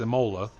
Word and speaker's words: Imola: or like zorax and tell me how to pronounce things it's imola that's what i said so your dad didn't